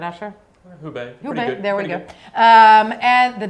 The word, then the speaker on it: Hubei: I think I'm mispronouncing this, right, Asher? Hubei, there we go.